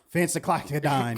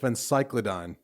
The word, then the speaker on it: phencyclidine: Fancy Clyodine.